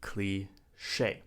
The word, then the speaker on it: cliché: It's cliché. Now this is a French word.